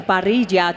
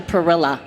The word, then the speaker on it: Parrilla: And it's partially why he had to change their pronunciation from Parijia to Pilla. Mhm. And some people in my family say Pilla and I'm like no it's pariah you know like and I